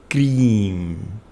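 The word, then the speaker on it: क्रीं: The mantra of Mother Kali, that's the sound that is her true energetic form, is cream, or rather cream is how it should be pronounced.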